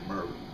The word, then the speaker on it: Marlene: Her name is Marlene, but we don't say Marlene, we say Merlene.